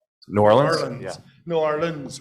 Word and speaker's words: New Orleans: New Orleans without the long E. I think that would be probably more acceptable than my pronunciation.